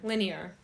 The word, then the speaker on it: linear: our healing is not linear linear linear that's how you pronounce that word I'm not good at